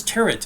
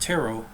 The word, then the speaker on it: tarot: a problem he says turret and not taro and most people that have studied taro know that the t is silent perhaps there's other pronunciations